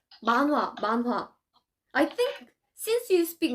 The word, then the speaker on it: manhwa: it's manhwa. I think since you speak many languages, your pronunciation is pretty good, I think.